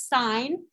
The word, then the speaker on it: sine: maybe no okay these this first one is sign you say it like a positive or negative sign when i taught public